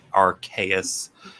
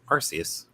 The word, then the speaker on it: Arceus: Crow pronounced it right. Arceus. Because, it's Arcane and Deus. Yeah. But me and my stupid English brain just sees the E after a C and immediately goes, oh, Arceus.